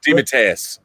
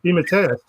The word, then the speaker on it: DeMatteis: How do you pronounce the last name? DeMatteis. DeMatteis.